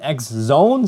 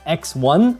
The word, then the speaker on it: XONE: going to be using the proper pronunciation for this game is Beyblade xzone so not Beyblade 10 X1 or Beyblade X X1 or like Beyblade 101 or something so xzone is the name like you guys know